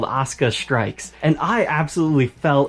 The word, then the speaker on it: Asuka: It's like you've got a Brooklyn accent trying to say the word Oscar. Apparently in the Netflix dub they pronounce it Asuka, but whatever way you pronounce it, there's just no U, it's silent in this particular case.